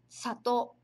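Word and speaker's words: さとう: Mas na pronúncia, no dia a dia, a gente fala satou. Satou. Como se esse o, aqui o to, o o do to, ele tivesse um prolongamento. Satou. Satou. Satou. Satou. Satou. Vê a diferença? Na hora de escrever, precisa escrever assim. Satou e o a vogal u. Mas, como eu falei, a pronúncia, satou.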